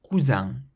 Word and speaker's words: cousin: Cousin, cousin, and cousine, cousine. So the first ends in an N, the second ends in an N followed by another vowel. So the first one has a nasal sound, cousin, meaning cousin, and